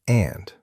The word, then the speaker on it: and: Sometimes learners say anda, but it's just and, short, no extra sound at the end, and.